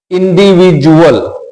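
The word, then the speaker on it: individual: हैं कैसे करते हैं इंडिविजुअल तो यहां पर देखिए डी यू ए एल सो we have to pronounce it एस इंडिविजुअल graduate procedure तो डी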